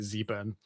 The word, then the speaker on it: Zurn: channel called Zurn and he's American so you pronounce it Zurn zurn's reefing and I